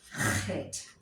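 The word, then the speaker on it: חית: Chet. That is a guttural letter, and it sounds in the throat, in the back of your throat. Chet.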